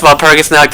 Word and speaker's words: Walpurgisnacht: You know, because it's pronounced like a V, and the CH is pronounced like a K. I was about to say C, but I mean, I can say C, a hard C, but at that point just say K.